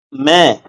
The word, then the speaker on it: मैं: நீங்க நான் அப்படின்னு சொல்றதுக்கு மே அப்படின்னு சொன்னா போதும். கடைசீட்டுல வர்ற இன்னு வந்து அழுத்தக்கூடாது. MAIN மேன்னு தான் இருக்கும். படிக்கும் பொழுது மெயின்னு தான் படிப்போம். ஆனா பேசும் பொழுது அந்த என் வந்து சைலண்ட் லெட்டர் ஆயிடும். அப்ப மே, இந்த பசுமாடு கத்தும் பார்த்திருக்கீங்களா? மே, அந்த உச்சரிப்பை மட்டும் கொடுத்தா போதும். இன்னு அரை மாத்திரையில தான் உச்சரிக்கணும். முழுசா மெயின் மெயின் இப்படின்னு அழுத்தக்கூடாதுங்க. இப்படி சொன்னோம்னா நார்த் இந்தியன்ஸ் ஒரே நிமிஷத்துல ஒரு செகண்ட்ல கண்டுபிடிச்சிருவாங்க.